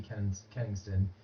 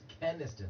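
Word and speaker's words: Kenniston: The press even, I saw a tweet from Brady Kenningston, Keniston, I never know how to say this, Keniston, yeah, not Kenningston, who is a member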